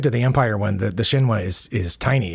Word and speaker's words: Shinwa: Shinwa, I believe is how you say that, Shinwa. It's a Japanese company, and it says it's made in Japan. Now it's smaller than the other ones. I mean, compared to the Empire one, the Shinwa is tiny.